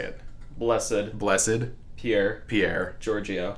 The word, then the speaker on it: Giorgio: Giorgio. Giorgio.